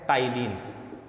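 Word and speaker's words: ptyalin: तो एक ही बात है, टाइलिन, इसकी जो स्पेलिंग है वो किससे स्टार्ट होगी? पी से, पटाइलिन, टाइलिन।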